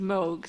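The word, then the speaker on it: Moge: I can tell you that in the court they were referred to as Mr. and Mrs. Moog, so I think you can safely use that pronunciation from now on.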